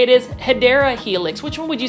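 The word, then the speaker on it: Hedera: where it was um me saying Hedra when it was actually Hideera, but that's kind of stuck around with it.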